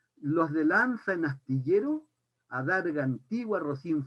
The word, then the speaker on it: lanza: Y dice que este hidalgo era de los de lanza, voy a pronunciar la Z como la pronuncian los españoles porque me gusta, los de lanza en astillero, adarga antigua, rocín flaco y galgo corredor.